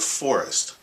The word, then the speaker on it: FORIZT: it a name and we call it Forest which um you'll see has a z in it and we did that